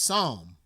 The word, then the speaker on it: Somme: the Battle of P I think it's just pronounced Psalm Sabaton history 122 let's